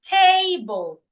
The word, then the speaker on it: table: An example is table. It means the first syllable should be said louder, longer, and clearer.